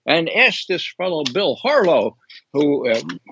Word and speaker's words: Harlow: asked this fellow Bill Harlow who I remember his last name easily because it rhymes with Harlot okay what he said